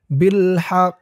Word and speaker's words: بالحق: হক আদামা বিল হক এই মিম চিহ্নতে অক্ফ করার কারণে এই কফের উপরে যে তাসদিদ আছে এই তাসদিদের উচ্চারণটা হবে না এবং কফের নিচে যে জেরটা আছে এই জেরটা সাকিন হয়ে যাবে উচ্চারণ হবে বিল হক এই কফটা তখন কলকলার হরফ হয়ে যাবে ধাক্কা দিয়ে পড়তে হবে আদামা বিল হক ওয়াতলু